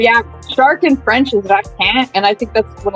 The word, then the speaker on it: requin: My favorite ocean creature to say in French is shark, and that is requin.